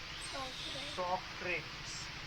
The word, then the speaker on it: Socrates: और इसमें इंग्लिश में बोलते हैं सोक्रेटिस, स्पेलिंग में कोई मिस्टेक